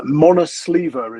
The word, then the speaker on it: Monosver: Uh Monosver is how we're pronouncing it according to the commentator having rewatched his last win this morning.